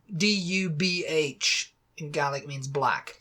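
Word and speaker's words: dubh: she's the son of black really do D du BH in GIC means black so MDU son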